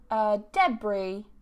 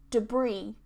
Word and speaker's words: debris: And this has actually two ways to pronounce it, I saw in the dictionary. But you can say it as debris, debris, or debris, debris. In both cases, so one is just stressed at the start, one is just stressed on the second syllable, but in both cases the S is removed.